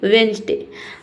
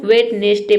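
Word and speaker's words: Wednesday: वेडनेसडे यहां पे देखिए बहुत सारे स्टूडेंट्स को वेटनेसडे पढ़ते हैं। लेकिन यहां पे जो डी लेटर है यह साइलेंट रहता है।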